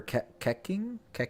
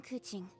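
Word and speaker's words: Keqing: Or Keking? I have no idea how to pronounce her name. Keking? I wonder if there's like a voice thing, if she'll tell me. I am Kuching.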